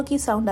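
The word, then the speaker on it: quinze: कातर्स 15 केंस केंस यहां पर कई लोग फाइव और 15 में बहुत कंफ्यूज हो जाते हैं क्योंकि फाइव होता है स और 15 होता है कैंस तो बहुत ही सिमिलर साउंडिंग है तो बहुत लोग कंफ्यूज हो जाते हैं।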